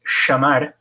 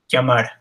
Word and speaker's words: llamar: I don't use it very hard, but some places like Argentina, it's more like an SH sound in English, llamar. But that's not how I learned how to say it. I didn't learn that way in Mexico, and my ella is llamar, almost like a hard Y in English.